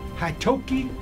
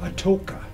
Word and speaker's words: Atoka: he got the name Haitoki. Or that's the correct pronunciation, but it's called Atoka. Atoka now.